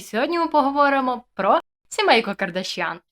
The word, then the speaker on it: Кардашьян: зняти це відео Роберт Кардаш'ян чи Кардаш'ян я не пам'ятаю просто Весь прикол в тому що американці насправді знову кажуть неправильно це прізвище в плані того що з неправильним наголосом тому вибачте в мене